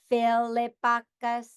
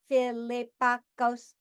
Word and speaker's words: Philippakos: My last name is Philippakis. So I will break it in syllables using my robot voice. Philippakis. I have 4 syllables. So my name is Philippakos.